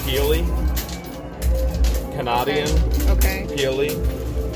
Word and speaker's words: Pelee: And this How's on Lake pronounced? Erie. Pelee? Canadian. Okay. Pelee. Pelee.